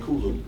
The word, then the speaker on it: Kulu: I like Khufu because his name rhymes with my name, Kulu.